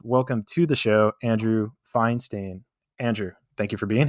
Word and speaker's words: Feinstein: button man I'm like most people are like f Stein finsten Feinstein man right on the button I dig it